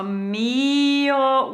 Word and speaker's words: mio: So mio with the emphasis on the first part of mio, my beautiful love.